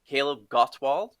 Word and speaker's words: Kaleb Gottwald: But anyways, today we've got a special guest, Kaleb Gottwald. Is that the correct pronunciation, Kaleb?